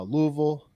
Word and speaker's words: Louisville: Uh way more unfortunately uh passed away in the Louisville uh Louisville.